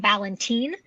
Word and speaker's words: Valentine: actually, and they're insiders, they actually pronounced Valentine with a B. They pronounced it Ballantine.